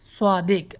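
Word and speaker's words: صديق: তারা শিখবেন শুদ্ধ উচ্চারণে সদিক সওয়াদ হবে সিন হবে না যদিও সৌদিরা মানে বোঝার চেষ্টা করে বা সাদিক বললে যে তবুও আমরা শব্দ উচ্চারণ করতে হবে শব্দটা হচ্ছে সদেক সদিক অর্থ বন্ধ সদেক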